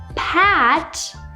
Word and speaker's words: pat: and that's it however if I want to say the word Pat Like Pat someone on the back as you can see I'm really opening my mouth and again at the